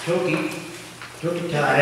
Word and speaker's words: Tokitae: parts an update on toki took a tie as i've learned to pronounce it i think we can